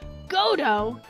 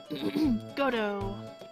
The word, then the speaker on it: Godot: oh yeah good good godo and yes it's Gotoh not Godot the T is silent uh you have taken